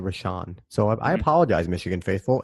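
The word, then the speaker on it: Rashan: Bob and I've been announcing rashon Gary's name wrong I've been saying we shot it's a rashon so I apologize Michigan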